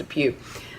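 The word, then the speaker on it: DePuy: you say it looks like deployed but it's pronounced a few so he contends hey they had to act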